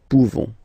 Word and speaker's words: pouvons: Okay, you don't pronounce the final S. Nous pouvons.